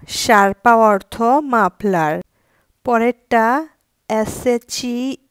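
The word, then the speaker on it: sciarpa: দিয়ে এখন বুঝিয়ে দিব এস এ যার উচ্চারণ সিপা শারপা অর্থ মাপলার পরেরটা এস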